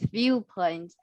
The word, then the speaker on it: viewpoint: And I think there is a need to practice viewpoint. I know the key point is this later, this constant v 辅音是辅音的原因才导致这个原因，好，导致您读的不是特别的标准。哎呀，Yeah, can you pronounce this constant?